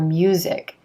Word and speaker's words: music: When the letter S is in the middle of a word and it's supposed to sound like Z, like business or music, it's really noticeable if you pronounce it as the voiceless S sound.